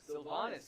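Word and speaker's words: Sylvanus: Am I pronouncing this correctly? Let me try it. Go ahead. Sylvanas. Sylvanas, good Okay, job.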